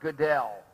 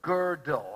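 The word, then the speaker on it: Gödel: about the work of Kurt Goodell or girdle I think it's pronounced G with the um loud the o with the um loud good l g o with the two dots d-e-l this is what he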